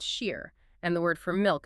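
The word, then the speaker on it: شیر: In Iranian Persian, because those historical vowel sounds collapse into each other, the word for lion is pronounced shir, and the word for milk is also pronounced shir.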